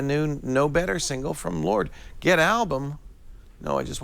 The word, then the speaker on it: Lorde: we all get a copy of the I got new one Lord too. single. Really? Yeah. No kidding. Is that how you pronounce that, by the way? Yes. It's not Lorde. No, it's Lord.